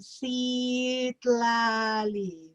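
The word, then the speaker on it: Citlali: you put it lali there uh there's a pronunciation see lali that's how you pronounce it it's beautiful and and sit lali means the luminous one so it's closer to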